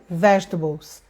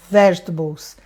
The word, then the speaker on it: vegetables: Aí eu peguei e mostrei para ele e falei, vegetables, vegetables. Não tem nada a ver com table de mesa, é vegetables.